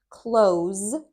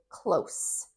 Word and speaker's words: close: close, where the s makes that z sound. Close. That is a verb. And the adjective is close, where it makes that s sound.